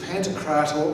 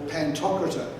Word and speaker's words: Pantocrator: of christ now i there are two pronunciations for this pantocrator or pantocrator english tend to say pantocrative but when i'm amongst greeks and russians pantocrator is is favored and also there was